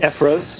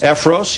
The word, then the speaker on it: Effros: Bill Effros, am I pronouncing? Effros. Effros, you have written a book, How to Sell Your Home in 5 Days.